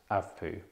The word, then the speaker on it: ACVPU: and response to stimuli it is spelled a c v p u but pronounced avapu A is for alert